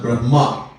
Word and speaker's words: Brahma: so a big difference have to be careful sometime when we pronounce there's a big difference between brah and Brahma all right anyhow so